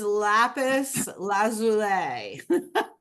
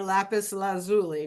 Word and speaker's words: lapis lazuli: lesle now this is lapis lazul or lapis lazuli depending on how you say it um and it's